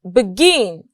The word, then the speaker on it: begin: And lastly, we have begin. The stress is on gin.